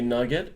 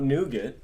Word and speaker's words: nougat: idea of nougat nougat you say nugget or nothing else not nougat how do you spell